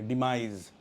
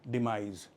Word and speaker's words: demise: तो सबसे पहला वर्ड डिस्कस करते हैं, वो है डिमाइज। ये जो एस है इसको आप जी पढ़ेंगे, डिमाइज। तो इसकी प्रोनाउंसिएशन है डिमाइज।